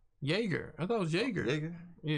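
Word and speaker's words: Jäger: been touching this bench yeah i said it wrong all right yeah it is jager so yeah i've been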